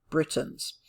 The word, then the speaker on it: Britons: I want you to notice this word here, Britons. It's spelled differently than if we just say the word Britain. Britain, B-R-I-T-A-I-N, refers to the country or the series of countries.